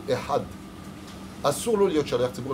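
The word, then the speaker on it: אחד: Il dit echad, lo katuv echad, katuv ehad.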